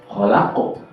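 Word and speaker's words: خَلَقَ: Kholaqo. Sukun hukumnya adalah qalqalah. Artinya kita harus membacanya dengan dipantulkan.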